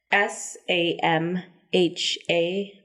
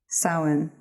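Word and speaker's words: Samhain: would you pronounce this word I'm going to spell it you might need to write it down I don't know but s a m h a i n Sam Hayne sin wow somebody knows their stuff yeah I was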